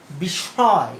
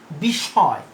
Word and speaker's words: বিস্ময়: যেমন উদাহরণ হিসেবে আমি দিতে পারি, উদাহরণ হিসেবে বড়শকের মূর্ধন্য সয়ম অন্তস্থ বিস্ময়, উচ্চারণটা কি? বিস্ময়। তাহলে দ্বিত্ব তো হলো, তালব্যস্য দুইবার ব্যবহার হলো মানে দ্বিত্ব হয়েছে। তাহলে এক্ষেত্রেও ওই যে পরবর্তী যে এটা, সেটা সানুনাসিক হবে, সংযুক্ত ব্যঞ্জনটি সানুনাসিক উচ্চারণ হবে, বিস্ময়।